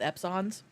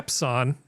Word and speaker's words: Epson: I personally have never had a problem with Epsons. But yeah. Epson? You mean Epson? EPSON. I've never heard anybody put stress on that second syllable before.